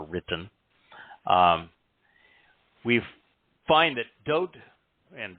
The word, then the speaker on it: Dowd: um we find that doad and dode is the correct pronunciation of the name that is known by most people as David and it is towed